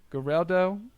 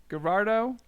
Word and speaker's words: Gerardo: Geraldo. That's not right. Gerardo Perdomo.